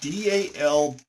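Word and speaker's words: dal bhat: the split pea soup they call it dow bot like d-a-l-b-o-t i think is how you i don't know you but they pronounce it dalbot and i think that's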